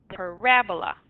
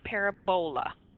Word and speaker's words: parabola: a quadratic equation and it's parabola so the accent is on the second eight it's not parabola parabola Y a parabola